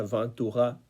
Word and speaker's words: Ventura: Francia y Mod Ventura, voy a decirlo a la española a pesar de que la pronunciación sería Van Tuga como el famoso director de orquesta de los años 30, Rey Ventura, ¿no?